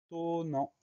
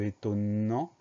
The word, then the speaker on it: étonnant: N au milieu de étonnant. Et la fin du mot, en, A-N-T. Le son en s'écrit N. Et à la fin du mot, on a un T muet qu'on n'entend pas, mais qu'on va retrouver dans étonnante.